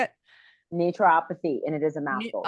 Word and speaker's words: naturopathy: Naturopathy, and it is a mouthful.